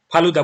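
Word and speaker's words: FELUDA: फिर अभी हमने फिर फेलुदा टेस्ट की हमने बात की थी, फालूदा बोलो या फेलुदा बोलो, ठीक है, स्पेलिंग आपको पता होना चाहिए, फुल फॉर्म आपको पता होना चाहिए।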